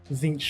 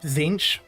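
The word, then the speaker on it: Tzeentch: I think though, every single time I've heard it, it's Zinch. But that could just be the people that I've heard pronounce it, so anecdotal at best.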